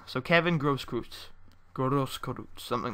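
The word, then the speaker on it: Großkreutz: Grosskreutz. I'm pretty sure that B-looking thing is pronounced with an S. So Kevin Grosskreutz.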